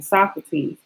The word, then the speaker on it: Socrates: Socrates.